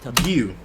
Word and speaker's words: Giyu: I think Gui. Let me just try and see whether I can find how it's said and how it's also how he also pronounces it. Let's see. Giyu.